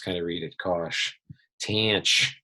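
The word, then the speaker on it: tanh: of read it gosh tanch that's how people say it the hyperbolic tangent the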